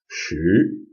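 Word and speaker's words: 十: that is again that's which is a rising tone second tone she that's 10.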